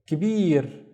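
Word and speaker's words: كبير: So the first syllable is ki, and then bir, kibir. Kibir means big, but I would only use it to describe a male or something that is masculine.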